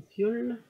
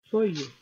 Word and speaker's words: foil: C'est juste ce qui va sur mon fiole. Papier fiole. Je sais pas, j'ai l'impression que je le dis mal, que je le prononce mal. Foil. Foil. Bon.